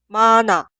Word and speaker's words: 많아: Y siguiente, se escribe así, pero suena 많아, 많아, 많아.